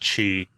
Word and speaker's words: Qi: Yeah, it's pronounced Qi. Like uh like the energy inside the body. Yeah, Qi.